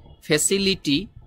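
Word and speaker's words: facility: যে ঠ আছে ওই ঠর মত করে এই টির উচ্চারণটি করে ওরা ফ্যাসিলিটি ফ্যাসিলিটি মিন হলো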